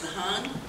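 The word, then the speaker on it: धान: Dan, when pronounced as dhan, means the seed.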